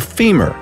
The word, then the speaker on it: femur: By the way, the strongest bone by all accounts is the femur, rhymes with lemur.